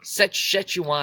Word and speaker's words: Szechuan: I think it's Szechuan. Szechuan You could sauce. say Szechuan. You could say Szechuan.